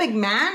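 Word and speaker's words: McMahon: McMan yeah it's spelled mcmah I mean you say mcmah but it's spelled MCM moth MCM or something like that MCM yeah like Mahan but it's mcmah mcmah yeah so then he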